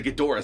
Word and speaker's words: Ghidorah: When really he's trying to destroy the Ghidra skull. Or the Ghidorah skull, however you want to pronounce it.